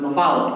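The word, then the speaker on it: LaFollette: hall and you'll know Dr Thompson gave it a fancy French uh pronunciation but my sister was a Ball State gr and I always heard Laval growing up the Robert r lafallet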